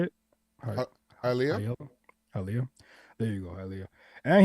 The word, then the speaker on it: Hialeah: Hialeah.